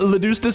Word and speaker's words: Leustus: Uh, Leustus is supposed to be pronounced like uh Le and Justice without the J.